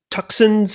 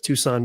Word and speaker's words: Tucson: see you man uh tucson's finest i know it's tucson but i always said it tucson because that's the way i remember how to spell it joe morgan what's going